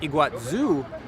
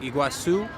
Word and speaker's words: Iguazu: pronounced it more like iguazu here in brazil it tends to be like a s sound like iguazu so that's how i'm